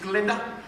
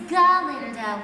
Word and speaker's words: Galinda: Glinda? It's Galinda with a G.